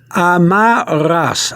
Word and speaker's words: amarras: You have to thrill the back of your throat for the double R. Amarras.